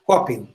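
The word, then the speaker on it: coping: Coppen, que eu quis dizer, Coppen se lê assim, C-O-P-I-N-G. N de navio e G de gato. Coppen.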